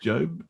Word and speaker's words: Job: Pronounced Job.